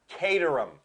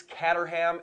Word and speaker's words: Caterham: name it it and to all of you out there that think it's Caterham it's not all my life I thought so and it kind of looks like it and then I started really thinking about the spelling c a t spells Kate yes uh so we tuned